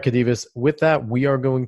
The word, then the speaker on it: Khadevis: Yeah, so my name is Khadevis. That's spelled K as in kind, H as in